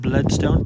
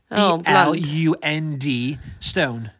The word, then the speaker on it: Blundstone: I always call the brand Bloodstone, but it's spelled No, it was not T, it's D. B-L-U-N-D, stone. Blund. Blundstone, yeah.